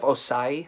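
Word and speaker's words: Ossai: Joseph Osai, I think that's how you say his name.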